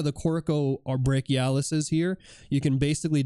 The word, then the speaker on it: coracobrachialis: The way you spell it, it's spelled COROCOBRACHIALIS, coracobrachialis.